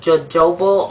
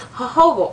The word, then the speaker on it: jojoba: So thank you guys for helping me pronounce that, because I would have called it jojoba oil, but it's jojoba oil. I know it doesn't look like it, but I love that as well.